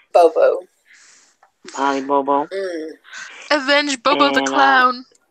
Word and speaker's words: Bobo: Bobo.